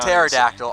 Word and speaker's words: pterodactyl: sticking with the pterodactyl P is silent I'm like with the pterodactyl I know how to